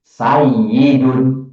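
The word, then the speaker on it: سَيِّدٌ: Tasjid itu dua huruf yang bergandengan kemudian digabung menjadi sayyidun. Nah, makanya jadilah sekarang cukup ya-nya ditulis satu tapi ada tasjid begitu.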